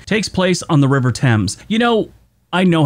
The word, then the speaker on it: Thames: 2012, the pageant for the Diamond Jubilee of Elizabeth II takes place on the River Thames. You know, I know how it's pronounced, but I will tell you right now, I tried to call it the River Thames.